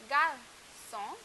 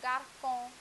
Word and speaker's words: garçon: For example, I have garçon, the word garçon, garçon. So now that I've put the cedilla below the C, it is pronounced as garçon. But if I remove the cedilla, then the pronunciation changes to garcon, garcon.